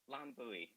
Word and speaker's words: Lan Bui: And Lan, did I pronounce your last name correctly? Lan Bui.